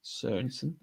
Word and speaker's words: Jakob Sørensen: Mispronunciation of the Year award, runner-up, Jakob Sørensen. I'll do it wrong. Sørensen, which I think we've mastered now.